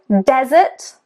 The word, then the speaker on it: desert: So desert, desert, the stress is on the first syllable.